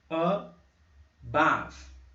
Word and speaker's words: above: Above. Above. Notem que aqui a sílaba mais forte começa com um B aqui, ó. Above. Esse é o nosso schwa.